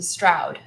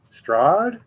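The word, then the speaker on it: Strahd: when we played um the Stroud the Stroud um uh Adventure strad yes strw I mispronounce it uh yeah the the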